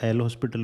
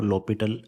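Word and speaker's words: L'Hôpital: लिखने में तो इसको एल हॉस्पिटल रूल लिखते हैं, बट जो इसका प्रोनाउंसिएशन है वो लॉपिटल रूल बोला जाता है।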